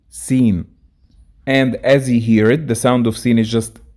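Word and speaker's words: سين: And let's quickly know how to pronounce each of them. Seen, sheen, and the next pair, sod, dod.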